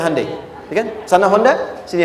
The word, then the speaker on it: Hyundai: di sana bikin Honda sini hundai Hyundai kan dibacanya hundai ya kan sana Honda